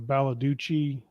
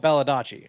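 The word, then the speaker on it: Baldacci: what's the is it I always say his name on the baladucci uh yeah David uh baladacci or is that right yeah sounds better yeah yeah yeah but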